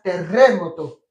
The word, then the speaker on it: terremoto: Doble R. Lo pronuncias terremoto.